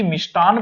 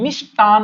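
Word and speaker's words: मिष्ठान्न: अब हम लोग हमेशा सुनते आए हैं कि मिष्टान भंडार, अब ये शब्द गलत है, क्या करें? हम सुनते आए हैं। होता क्या है? मिष्टान होता है।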